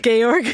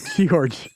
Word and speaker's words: Georg: Georg. Yeah, Georg. I like that. It's like Geoff. It's like Gorge, but backwards.